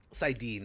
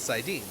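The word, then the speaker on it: saidin: Sidine, I think is how it's pronounced.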